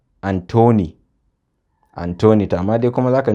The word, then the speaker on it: Anthony: Number 6 aka ce note also that in some names like Thames, Thomas and Anthony, th is pronounced as t.